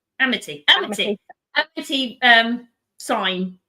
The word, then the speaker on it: Amity: He the mayor would rather chase the petty criminals that vandalized the amnity. Amnity. I said it right, didn't I? Amity.